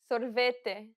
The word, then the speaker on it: sorvete: Sorvete, sorvete. Atividade, atividade. The way you pronounce them varies based on the region you're visiting in Brazil.